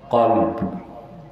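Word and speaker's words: قلب: এজন্য এটার নাম হচ্ছে নাম কি উচ্চারণ ঠিক করতে হবে অনেক মৌলভী দেখি উচ্চারণ পারে না বলে কাল কাল মানে কুত্তাউচ্চারণটা কি হবে কলব কলব উচ্চারণ ঠিক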